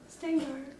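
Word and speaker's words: Shteyngart: I can't pronounce his name. Gary Stengard, I think. Stengard? That's how you say it. Stengard.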